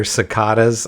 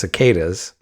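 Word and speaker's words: cicadas: for the first time sakadas that's her first her first mistake here sakadas I've never heard it pronounced sakadas whoopy Goldberg is right it's cicas in different well this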